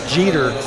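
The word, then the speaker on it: Geter: it's it's actually rodney jeter not getter dude it's spelled with a g but it's actually pronounced with a j okay was rodney jeter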